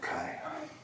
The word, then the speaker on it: Kai: Here's what we'll do, Kai. I'm pronouncing it right, right?